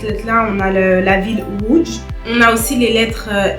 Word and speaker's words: Łódź: On va un peu le prononcer comme wo. Et par exemple, un mot qui commence par cette lettre-là, on a la ville Łódź.